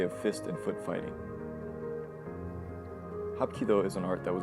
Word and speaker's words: Hapkido: Hapkido is also a three-syllable word that is broken down as such.